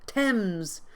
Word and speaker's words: Thames: Thames. The Thames. It rhymes with gems. This TH sound is silent.